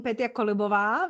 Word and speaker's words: Petia Kolibova: my favorite place it's instagram just my name peter columbova now you know how to pronounce it perfectly or just my website you